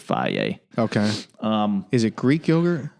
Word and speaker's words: Fage: I usually eat Flaw, Fage. That's how you pronounce it, Flaw.